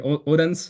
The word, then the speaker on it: Odense: I was staying in Odense, or maybe Odense. That's the more European pronunciation.